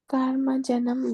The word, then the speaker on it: कर्मजं: karma-jaṁ buddhi-yuktā hi phalam tyaktvā manīṣiṇaḥ janma-bandha-vinirmuktāḥ padam gacchanty anāmayam. कर्मजं बुद्धियुक्ता हि फलं त्यक्त्वा मनीषिणः जन्मबन्धविनिर्मुक्ताः पदं गच्छन्त्य अनामयम्. karma-jaṁ buddhi-yuktā No.